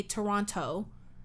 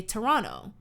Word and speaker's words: Toronto: we say toronto is we don't pronounce the last t like canadians obviously if